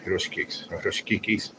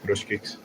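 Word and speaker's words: chruściki: Hruszkikis. Sometimes people they'll say it like that, but hruszkiks.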